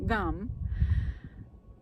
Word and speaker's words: Gam: them the pronunciation right it's spelled gam but it's gum like you would say chewing gum so let's begin so